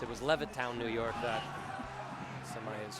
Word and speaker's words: Levittown: I mispronounced it was Levittown, New York that Sami is from.